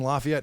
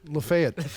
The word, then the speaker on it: Lafayette: the big judges in Lafayette. He would come. Wait, you said it wrong. Lefayet. Yeah. Hey, hold on a second. Right. It's not Lafayette.